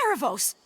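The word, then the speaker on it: Aaravos: It's Erebos. It's not that hard.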